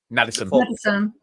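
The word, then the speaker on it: Nadesan: You had Ashley Nadistan. How do you say his name? Madison.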